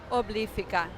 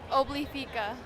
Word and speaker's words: Obliphica: How do you say it? Obliphica. Sophia. Obliphica. See, it is a little different.